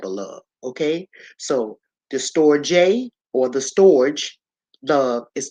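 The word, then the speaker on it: storge: s t o rge however is pronounced store J store J it is Greek this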